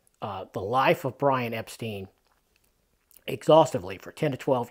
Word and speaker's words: Epstein: and the entire family all of them preferred Epstein that's how they said it uh the grandmother of the family his grandmother said the name is Epstein and that is the correct pronunciation and she